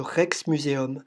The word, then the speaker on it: Rijksmuseum: Et ce grand bâtiment un peu plus lumineux au fond, c'est le musée le plus connu d'Amsterdam, le Rijksmuseum. Ça s'écrit R-I-J-K-S pour dire Rex, faut suivre.